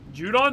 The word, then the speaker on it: Judon: Falcons trador for Matthew Jud I think I said it wrong judon they got judon yeah